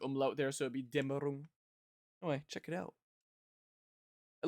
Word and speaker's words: Dämmerung: Dämmerung, as they probably just pronounce it here. But there's an umlaut there, so it'd be Dämmerung.